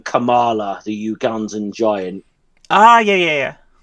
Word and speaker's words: Kamala: I don't know that Biden's the person to deliver it, or Kamala. Okay. Kamala.